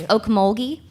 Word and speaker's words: Ocmulgee: yes, Okmulgee. Could you spell that for Yeah.